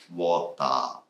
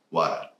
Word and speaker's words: water: So many Japanese say like water. And then I learned water.